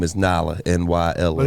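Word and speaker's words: Nyla: So Nye, you just got, and her name's New York, L.A., but her real name is Nala, N-Y-L-A. But it's New York, L.A. Nada. That's how you spell it, N-Y-L-A.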